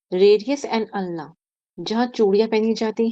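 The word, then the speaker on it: ulna: Radius and अल्ना। ठीक है, उल्ना नहीं बोलते इसको, अल्ना से प्रोनाउंस, इसकी प्रोनाउंसिएशन है।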